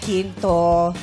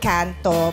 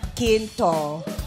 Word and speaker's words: Quinto: I'm Quinto. Not Canto, but... Not Ginto, but Quinto.